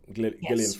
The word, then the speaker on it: Gillian: It's a Gillian Flynn. Gileian Flynn. Everyone remembers a hard hard G starring how why have I forgotten the name?